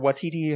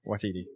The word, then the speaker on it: Waititi: But no, I love Taika Waititi, or Watiti, however you say his name. Watiti. Yes, Waititi.